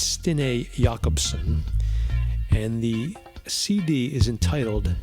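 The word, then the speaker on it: Stine Jacobsen: and look for stinee jacobson now we would pronounce that jacobson j-a-c-o-b-s-e-n but it's stine jakobson and the cd is entitled nitashlat n-i-t-t-a-a-l-l-a-t and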